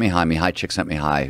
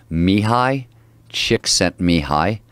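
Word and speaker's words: Mihály Csíkszentmihályi: of flow psychology, was how do you say his name? Mihai Chick Sent Mihai. That's his whole name? That's how he's Hungarian.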